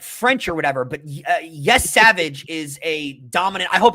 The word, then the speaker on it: Yesavage: But Yes Savage is a dominant.